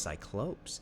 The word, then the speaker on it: Cyclopes: strength and smithing ability oh it's pronounced cyclopes interesting so the letter to